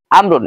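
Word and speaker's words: عمرو: এখন আমর আবার চিনার উপায় কি, আইন মিম র এরপরে যদি ওয়াও থাকে তাহলে উচ্চারণ হবে আমর, আর যদি আইন মিম র এরপরে ওয়াও না থাকে তাহলে উচ্চারণ হবে ওমর। এখানে খালিদুন ওয়া আমরুন হবে, ওমর হবে না উচ্চারণ।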